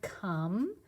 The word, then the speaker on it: come: they look the same c o m e that is not a silent e there nope this is just a word you have to remember c-o-m-e come please come here all